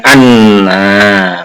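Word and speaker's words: أنّ: Anna anzalna. Nah, di sini anna itu menjadi fa'il, maka dibaca fathah hamzahnya, ya, huruf hamzahnya dibaca fathah. Jadi bacanya anna, begitu ya.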